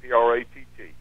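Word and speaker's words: Pracht: P-R-A-C-H-T, and we pronounce it P-R-A-T-T, Pratt.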